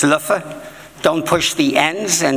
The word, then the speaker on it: Leuven: to be here again to be back in liven um although my Dutch teacher insists it's Lua don't push the NS and always pronounce the v's as FS so I come